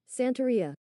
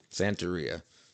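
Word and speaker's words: Santeria: Santaia. Santaia. That's how Sublime says it.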